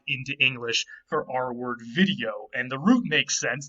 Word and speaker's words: video: from a Latin word video. By the way, V's in Latin were always pronounced W in the classical period.